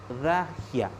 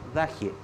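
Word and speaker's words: الضاحية: Esta es la parte chiita y se le llama acá en castellano es la dagia. En realidad en árabe se pronuncia la daje. Daje en árabe significa periferia.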